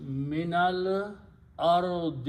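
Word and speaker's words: من الأرض: Then you pronounce them together, and for pronunciation together, you have to pronounce the sukoon as a zabar. So it becomes minal ardi.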